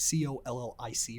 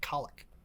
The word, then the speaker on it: colic: I thought it was like Collic or something. Mm-hmm. I've been saying like colic.